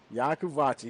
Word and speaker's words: Yacovucci: I think it's pronounced Yakuvachi. You know what? We're going to find out right now. I'm pretty sure it's Yakuvachi. I think somebody said something in the chat. Hello to the folks in the chat. Taylor Yakuvachi. Yakuvachi. Yep, she got the pronunciation in there for me.